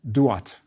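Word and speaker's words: Duat: The star is another triiliteral da. So the whole word was usually pronounced dat.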